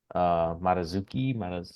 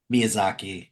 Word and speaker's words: Miyazaki: Pixar guy who often helped Marazuki, I said it right the first Mi time. Miyazaki. Yeah, Miyazaki, sorry.